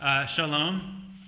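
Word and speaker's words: שלום: I'm going to guide us in a little pronunciation. So, shalom.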